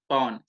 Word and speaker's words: pawn: अब प्लेज का दूसरा नाम है पॉन, PAWN, पॉन। देखो उच्चारण जरा भी गलत हो जाए तो गड़बड़ हो सकती है, तो द प्रोनाउंसिएशन इज पॉन।